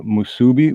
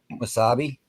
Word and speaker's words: musubi: saying it right but musubi musubi musubi wasabi wasabi guess what that's why I always get it mixed up because I always go to say that but it's not that musubi m-u-s-u-b-i I think but